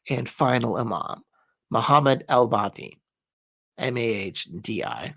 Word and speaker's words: Mahdi: So then we get to the 12th and final Imam, Muhammad al-Mahdi, Mahdi. It's kind of very hard to pronounce. Mahdi with the H.